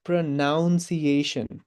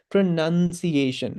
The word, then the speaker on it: pronunciation: pronounce गर्छौँ होला त majority Nepalese people pronounce this word as pronunciation. अब स्पेलिङ हेर्छौँ भने त त्यहाँ नाउन नै छैन भन्छ it's not pronunciation, it is actually pronunciation है सो हामीले pronounce